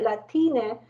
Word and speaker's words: Latine: more inclusive, or in the Spanish language, they use the ending e, Latine, which ends in e, but is pronounced e in Spanish, as a way to